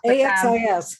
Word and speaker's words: Axis: i know it's hard i always try to pronounce it with an access to make sure um i spell it out a-x-i-s yeah or not ax axis yeah so i i have